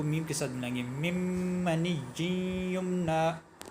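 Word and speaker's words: مِّن مَّنِيٍّ يُمْنَىٰ: منی یمنا پڑھتے ہیں۔ من یہ نہیں ہے، یہاں نون جو ساکن ہے اس کو نہیں پڑھا جائے گا، پہلے میم کے بعد جو نون آ رہا ہے اس پہلے میم کو دوسرے میم کے ساتھ ملا کے مم منی یمنا، یعنی اس کو من نہیں پڑھیں گے، نون کن کا تلفظ نہیں ہوگا۔ مم منی یمنا، نون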